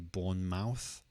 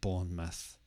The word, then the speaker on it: Bournemouth: might try to say Bournemouth but the stress is on the first part so it sounds more like Bournemouth also notice that it's